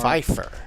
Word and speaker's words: Pfeiffer: It's spelled weird. It's not with a P. It's with an F-E-J-F-A-R. Pfeiffer. Yeah, Pfeiffer.